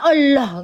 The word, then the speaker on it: Allah: Terdengar enggak ada seperti O-nya. Ini yang Arab. Arab asli dia. Allah. Allah. Dia bilangnya gitu. Allah. Allah. Enggak ada. Allah.